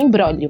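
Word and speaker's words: imbróglio: embrolho isso só que ela tem um gezinho mudo aí então é i m BR r o com acento agudo né g l i o então é em bróglio mas a gente pronuncia emolo isso lá no cupom de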